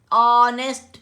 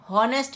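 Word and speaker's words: honest: ऑनेस्ट मैन, हॉनेस्ट मैन नहीं है ये, ऑनेस्ट मैन है, सिंगल मैन है, ठीक है।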